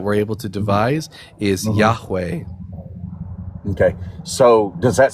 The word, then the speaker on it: Yahweh: The best scholarly reconstruction for the tetragrammaton that we're able to devise is Yahweh.